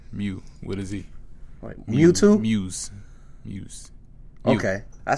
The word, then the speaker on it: Muse: You can mess it up is like Moose. People be saying Moose? Moose. Yeah. Nah, ain't no OOS in that. Right. Yeah, that's like, petty. How do you get Moose? Muse.